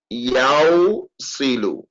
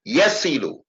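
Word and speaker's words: يصل: If we don't take out the wow, we're going to have yaw silu. Why is the wow taken out? Because to pronounce a kasra after a wow is difficult and heavy on the tongue.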